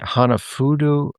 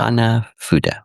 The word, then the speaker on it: Hanafuda: Is it Hanafudu? How do you say that Fuda. again? Fuda. Hanafuda.